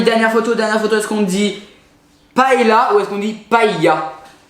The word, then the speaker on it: paella: que je sens que nos amis du sud vers Perpignan prononcent paella. Voilà, On dit paella. paella. Ah non mais pas... Puis non. c'est presque toute la France hein, qui dit paella.